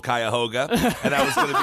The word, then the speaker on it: Cuyahoga: i was really hoping you were going to mispronounce cuyahoga falls because i know that it's called cuyahoga and i was going to be like no it's not cohogia or whatever you were going to say it's